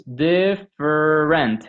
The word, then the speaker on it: different: me in so it's different it has three syllables but really uh written but by sound it only has two syllables different notice that the middle vowel is eliminated yes so if you